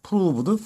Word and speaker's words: proved: 이 발음이 오자인데 우로 발음이 됩니다. proved foolish.